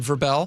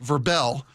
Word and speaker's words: Vrabel: Because Vrabel, excuse me, and even I'm learning how to pronounce it, unlike the NFL honors. You mean Verbel? Verbel.